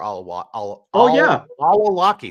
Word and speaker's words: al-Awlaki: Oh no, it was Anwar al-Awlaki.